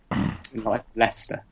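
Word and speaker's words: Leicester: the University of uh how do you say that leester leester of course leester of course leester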